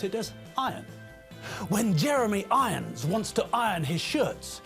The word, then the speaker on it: Jeremy Irons: Jeremy Irons' name is pronounced Jeremy Irons, not Jeremy Irons.